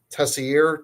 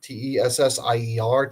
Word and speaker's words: Tessier: name of Head Hayden Tessier, Teser, Tessier, I believe is how you say it.